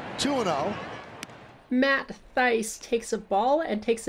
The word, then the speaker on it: Thaiss: It's Thaiss, not Tice, rhymes with ice.